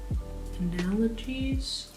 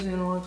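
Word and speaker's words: analogues: analogies wait hold on did I pronounce that right analogies or is it analoges oh it is analoges okay let's redo that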